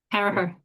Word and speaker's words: Carragher: We have Alvie Caraher. Um I am pronouncing that right? Caraher. Caraher.